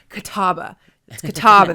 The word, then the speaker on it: Catawba: you've reached the admissions office of catawba college catawba that's how you say it well um as